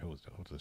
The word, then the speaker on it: jota: Jota. Jota. I actually like my name better in Spanish because it's Bejota, and that sounds cool. Yeah, sorry, Hota's J, not H.